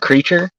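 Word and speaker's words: Kreacher: Now see you got Monstar's name right, but creature is spelled with a K and it looks like preacher. It's with a C H.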